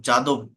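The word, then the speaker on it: Yadav: Umesh যাদব Kedar যাদব যাদব ওয়াই এ ডি এ ভি ইয়াদব অর্থাৎ এটা main লেটারের pronunciation এবং আইপের প্রোনাউন্সিয়েশন এই দুইটার পার্থক্যের কারণে এই দুই ধরনের উচ্চারণ এখানে হয়ে থাকে অর্থাৎ মেইন লেটার আমরা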